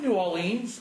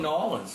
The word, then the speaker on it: New Orleans: Well, we say it as one word.